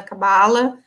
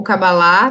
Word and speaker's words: Cabala: Ele já, desde muito jovem, é um estudioso da Cabala, ou Cabalá, né? Tem pronúncias diferentes, né?